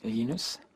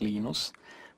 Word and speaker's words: Linus: I speak Swedish it's heinous when I speak Finnish it's leanness when I speak English its Linus and I really don't